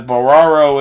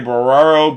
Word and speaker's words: Barrero: As that one is swung on by Jose Barraro, can't get anything there, and that's no balls, 2 strikes. Or Jose Barrero. Jose Barrero, I think, is how you say the name, as Jose Barrero swings